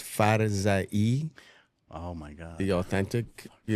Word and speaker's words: Farzaie: It's actually pronounced Farzaie, Oh, my God.